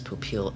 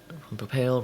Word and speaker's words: Popeil: and I'm getting a correction from chat is Popeil yeah I've that that's my apology I've been messing up that pronunciation for a while I wasn't sure if it's Papale Ron Popeil I've I've never noticed that just